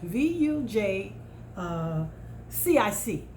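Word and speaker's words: Vujicic: you've seen him before his name is nick vogelsick i think it is it's pronounced vuj uh cic he is a motivational speaker very powerful he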